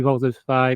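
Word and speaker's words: Voltes V: If you guys want to see Voltus V Legacy, it's actually Voltus 5. If you want to pronounce it, but if you want to look it up, it's Voltus V Legacy.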